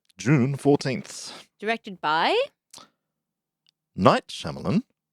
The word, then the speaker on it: Shyamalan: 14th directed by Night shamalan M night shamalan not M Night Shaman isan KN Shon Shon